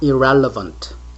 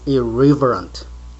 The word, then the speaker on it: irreverent: It's not irrelevant. It is irreverent or irreverent, unreverent or irreverent.